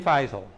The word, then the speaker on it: Feisel: Ken Feisel. Yeah, and I always say his name wrong. Feisel is correct.